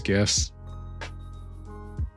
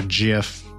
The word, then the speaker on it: GIF: or GIF, depending on if that's how you pronounce it. I think the original creator said it's pronounced GIF, but I don't I don't accept that. It's GIF to me. You don't give someone when on Christmas you don't give someone gifts. You give them gifts.